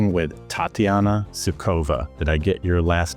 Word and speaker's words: Sukhova: And today I'm talking with Tatiana Sukova. Did I get your last name pronounced right? Tatiana almost perfectly right. Okay. What is it? Sukova or Suova? I would Okay. Sukova.